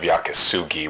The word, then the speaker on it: yakisugi: I was calling it Sho Sugiban instead of Yakasugi when I already knew that Yakasugi was the right name, but I couldn't come up with a decent answer.